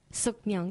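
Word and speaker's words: Sookmyung: I can't believe I'm going to even try and pronounce this. Sukmyung. Sukmyung, yes.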